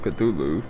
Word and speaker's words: Cthulhu: stop saying that and stick with Cthulhu because, like, if any of y'all watch IGP, like he said, I think it's the most accepted pronunciation because if y'all don't know, you're not supposed to be, humans aren't supposed to be able to pronounce Cthulhu's name.